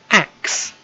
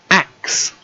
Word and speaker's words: axe: got our card and this e as well we don't pronounce it yeah but father so all we have is ax axe axe you can say it